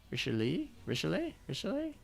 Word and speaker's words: Richelieu: It's the same way you pronounce the a, rish a. So Richelieu.